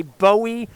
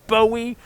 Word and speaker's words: Bowie: towson but not tosin people say bowie not bowie it's bowie maryland it's david bowie and it's ronnie marmo